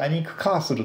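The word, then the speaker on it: Alnwick Castle: リス風の発音だとアニックカーソルというふうになる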